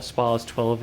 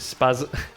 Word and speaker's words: SPAS: We've got 3 pump actions altogether, the KSG-12, the SPAS-12, or SPAS-12 if you want to pronounce it right, but being a Yorkshireman I can't help but pronounce it SPAS.